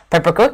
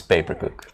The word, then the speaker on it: Papercook: So right now we have Emil, the team captain for Peppercook. Is that how you pronounce it? It's Papercook. Papercook?